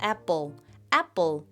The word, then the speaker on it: apple: 애플에다가 사실 애플은요. 피읍이 아니고 뿌 발음이 납니다. 여기서 애플에다가 뒤에 L 발음 살리면 apple 이렇게 L 발음만 살리면 됩니다.